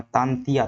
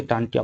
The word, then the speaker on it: तांतिया: दरअसल अंग्रेज जो है तांतिया नहीं बोल पाते थे। तो इसे ये क्या कहते थे? टांटिया कहते थे। टंट्या। अंग्रेज जो है इसका सही उच्चारण नहीं कर पाते थे। तांतिया इनका वास्तविक नाम है।